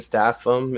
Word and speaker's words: Statham: Gravel is the Avatar series by Warren Ellis and Mike Wolfer, and Jason Statham is attached.